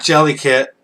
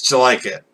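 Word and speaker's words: Jellikit: It's not Jelly-Kit, it's Jelike-It. Because he says, Jelike-It? Like, did you like it?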